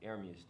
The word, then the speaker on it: Ermius: Rise, it's Ermius though. That's how you say it.